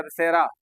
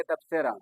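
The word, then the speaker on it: تبصرہ: मैंने बताया था आप लोगों को तबसेरा। तब्सरा वर्ड मैंने लिखवाया था। उसी पे बच्चों का कमेंट आया था YouTube पे कि सर तब्सरा ना के तशरा।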